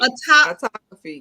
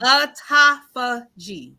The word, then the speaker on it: autophagy: I don't know how to pronounce Autography. that word. Autography, is that the word? Autography. Autography. Autophagy. Autophagy.